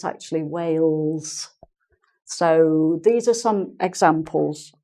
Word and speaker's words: Wales: vows not Wales but Wow's which is like saying WOW with an S on the end Wow we went to wolves for our holiday but it's actually Wales so these are some